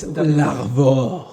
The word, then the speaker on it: Larvor: Is it it looks like Larvor, but I think it should be more like Larvor. It's Larvor. Larvor. And it's Larvor. Larvor. It's a Brittany name, and it means dick.